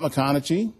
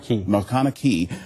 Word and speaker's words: MacConachie: Well, with me today is Scott McConaughey. Did I say it right? Yes, sir. McConaughey, who is here from K9 Ponderosa, and he's